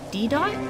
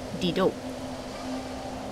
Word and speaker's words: Didot: been a while I know last time I pronounce this D dot it's actually pronounced Dido it is a French name let's we can